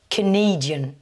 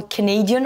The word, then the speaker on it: Canadian: Alors que dans Canadian, la nationalité, vous commencez par le son schwa pour le premier A. Et là, je vous renvoie à une vidéo qu'on a réalisée récemment sur le son schwa, le son le plus commun en anglais. Et dans Canadian, on insiste là, par contre, sur la deuxième syllabe.